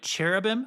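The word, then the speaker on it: cherubim: So, the first thing he sees are these carab. Okay, it looks like cherubam. I say it that way sometimes with the ch sound.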